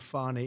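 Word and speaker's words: Fani: treated you very unfairly she goes by the name of fonnie even though it's f a n i she wants to pronounce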